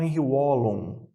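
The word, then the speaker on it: Henri Wallon: Quando eu falo de teoria socioafetiva, eu estou falando de Henri Vallon. Beleza? Tá lá. Ou alguns pronunciam como Henry Wallon. Já ouvi muito essa pronúncia também.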